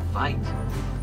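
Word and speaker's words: wyd: White is a mispronunciation of the Afrikaans word fight, which means wide, and that's the shape of their mouth.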